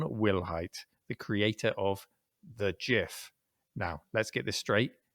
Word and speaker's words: GIF: it was stephen himself the creator who said it's a soft g it's a gif and he said it